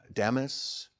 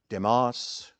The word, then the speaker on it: Demas: Now, there's a number of ways of pronouncing that. Uh, Demis, Demos, Deeus. No one really knows what the exact pronunciation of the word is to be honest with you because remember it's a transliteration from Greek to English.